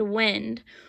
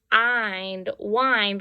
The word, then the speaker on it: wind: Well, if we think about it, there's another word that is spelled the same way, but it sounds differently, and that's the word wind, like you're winding up something, or you're winding up a toy to make it spin.